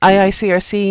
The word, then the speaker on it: IICRC: So a lot of these organizations, is it IICRC? Is that how you say it properly? Yeah, just it's easier that way. Okay, IICRC and the CRI, they have a green label program.